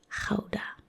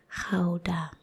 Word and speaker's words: Gouda: So you know this from Gouda cheese, but it's actually pronounced Gouda. Gouda, not Gouda. Gouda.